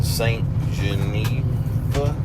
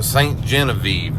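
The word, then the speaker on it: Ste. Genevieve: right, so we are in St. Geneva. Is that how you pronounce it? St. Genevieve. Yeah, that's what I said.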